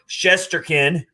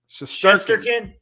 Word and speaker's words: Shesterkin: And I'm not going to mess up this name, but Igor Shesterkin.